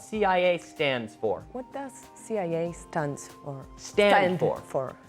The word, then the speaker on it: CIA: that we always pronounce we usually pronounce these acronyms in English according to the letter we don't say la